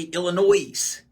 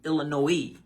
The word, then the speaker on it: Illinois: ask you a question Illinois people will say Illinois cuz it's spelled like that but it's pronounced Illinois so it's definitely interesting when you hear people